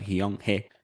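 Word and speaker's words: 영혜: es otra cosa pero se pronuncia jion ge y aprendemos de ella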